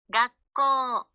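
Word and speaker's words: 学校: 소 각고 각고 각고 여기서의 코는 뒤에 우가 있는데 발음이 안 돼요 이건 뒤에 음에 가서 설명을 할할 건데요이 장음의 규 의해서 우 소리가 안 나고 코가 두 박이 되는 거예요 학교 글자는 하나 둘 셋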